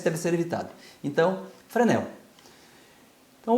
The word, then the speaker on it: Fresnel: Então, a pronúncia correta é Fresnel, em francês. Tá? Em português, Fresnel, tá ótimo. Nunca coloquem esse S aqui, tá?